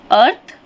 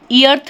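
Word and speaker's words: earth: silent हो जाता है जैसे कि अर्थ हम इ अर्थ नहीं पढ़ते हैं उसे अर्थ पढ़ते हैं जिसका हिंदी मीनिंग होता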